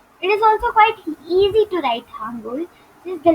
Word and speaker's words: Hangul: It all starts with knowing the Hangul Korean alphabet, or we can, I'm just pronouncing it very fast. Okay, so we can say it as Hangul, Hangul.